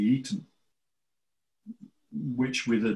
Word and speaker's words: Aten: It was both of them were actually pronounced more like Eton. Right. So yes, it sounds like Eden, yeah. Mm. Because the Aten god is spelt with a reed glyph. And the reed glyph is more of an E than an A. Mm. So instead of being the Aten, it's the Eton, which with a D,